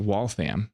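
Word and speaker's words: Waltham: a little bit and walam watch watch company pronounced wallam if you're from Massachusetts made 4,000 um only 4,000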